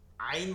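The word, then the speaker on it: عين: আইন বলার সময় কি করতে হবে, এই হলকের মধ্যখান থেকে, যেটা আমরা কণ্ঠনালীর মধ্যখান থেকে হা, জিমের পরে হা, লম্বা হাটা উচ্চারণ করে বের করে আসছি, বের করে নিয়ে আসছি, এবার এটাকে নিয়ে যাব আইন মধ্যখানে, আইন আইন, ইয়াকা না'বুদু, ইয়াকা না'বুদু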